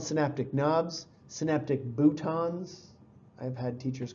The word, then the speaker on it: bouton: sound more interesting, but it looks like button, it's spelled button. But if you have a teacher or if you go to a neuroscience conference, you're going to hear this called a bouton, and I still think it's kind of funny.